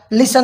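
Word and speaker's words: listen: अच्छा, अब इसमें देखें, ऑफन एफ के बाद टी है तो साइलेंट बोल दिया, लिसन में एस के बाद टी है तो साइलेंट कर दिया, कैसल में एस के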